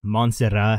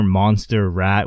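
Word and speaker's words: Montserrat: wife's friends name is monserat but it's actually pronounced monserat and the entire time this girl fought last the whole commentary Booth was calling her Monster Rat I don't know I find that funny and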